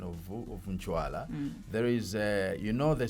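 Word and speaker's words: Ncwala: uh they they've been called pronouncing it as Inkwala.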